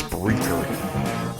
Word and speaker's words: Spreaker: And I did not mispronounce that. Spreaker. It is Spreaker. Speaker with an R in there.